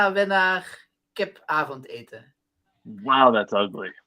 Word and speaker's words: winnaar: And we say winnaar. It's WINNAAR. So instead of ER, it's AAR.